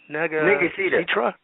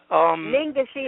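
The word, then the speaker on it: Ningishzida: How do you pronounce that? Negazitra? Ningashita.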